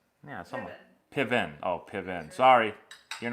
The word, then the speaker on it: Piven: Piven.